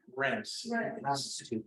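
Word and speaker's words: Reims: Rents. კამპანიის პროვინციალია. It's spelled R-H-E-I-M-S. They call it rents.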